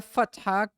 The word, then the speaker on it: fatha: the hair part because this word is actually arabic word and it's actually pronounced with the ha the from the one